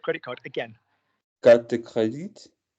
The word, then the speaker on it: crédit: Carte de crédit? Spell credit as you seem to think it's pronounced. Carte de crédit. As it's pronounced, it would have an E on the end.